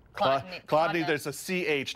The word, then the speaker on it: Chladni: The trick is it's not spelled like it's pronounced. Chladni, there's a C-H, not a K up front, okay?